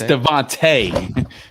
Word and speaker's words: DeVonta: It's Devontae.